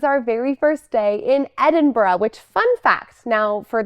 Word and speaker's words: Edinburgh: and if you're confused it is Edinburgh it's a little bit soft on the end but if it feels funny to you you can rely reliably say edin BR so if you need to be like an American about it that's how you say the word edin br edin br way better than Edinburg or edin burrow so whatever you do